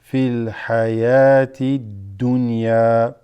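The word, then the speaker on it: في الحياة الدنيا: This waw is silent. fil hayati dunya.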